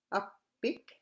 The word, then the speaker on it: appik: The PP double P sound, as with all other consonants, can be doubled. It's important to watch for single and double consonants, like in this one again, so you can pronounce them correctly.